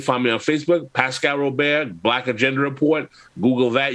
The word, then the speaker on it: Robert: Brother Pascal Robert, how can people get up with you and support your work?